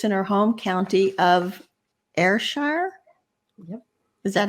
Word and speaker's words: Ayrshire: And she recently gained the Creative Scotland funding to write and produce 3 plays based in her home county of Ayrshire.